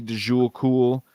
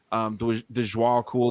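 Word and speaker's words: Djwal Khul: real name is supposedly de Jewel cool dejois cool there's a few different pronunciations for his name but this guy basically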